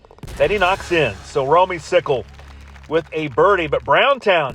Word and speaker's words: Romeycicle: I hope it's pronounced Romeycicle. That's what it looks like. Talked to a few of my Golden Tee Mobile friends, particularly one Russ Lyons, and we came to the conclusion, you're Romeycicle. It might be Romeycycle, but not today. Sorry, bub. You are Romeycicle.